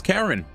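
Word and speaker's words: Charon: Her name is Karen. It's C H A R O N. Legitimately, that's her name. Like, when they say her name, it they definitely say it weird, though.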